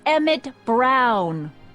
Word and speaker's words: Emmett Brown: bill to a t that's emmett brown rhymes with clown which i'm beginning to